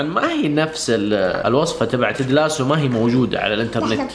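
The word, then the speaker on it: Ted Lasso: لا مو تيج، تدلاسو. تدلاسو. تدلاسو. بعدين نكمل. لا ما بعدين نكمل، تنطقيها صح. تدلاسو.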